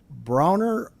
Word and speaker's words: Bronner: I just got to remember it's Bronner, not Brainer.